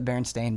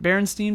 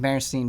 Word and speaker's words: Berenstain: again and see if they just say it Berenstein Bears, even though it's pronounced or spelled Stain. Well, it's the accents. It's because somebody sent us a link, and it does sound like they're saying Berenstain Bears.